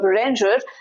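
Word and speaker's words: Bérenger: The protagonist, called Berenger, that's the English pronunciation, French pronunciation would be different.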